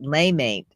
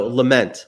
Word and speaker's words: lament: Is it lamate? No, lament, lament.